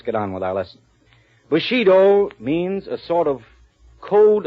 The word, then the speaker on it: Bushido: Bushido. Am I right about the pronunciation, interpreter?